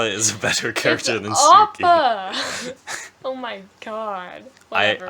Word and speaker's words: Suki: I was gonna say Suka. I've been ruined. Suki. That's why did you have Appa before Appa Suki? has more. Appa is a better character than Suki.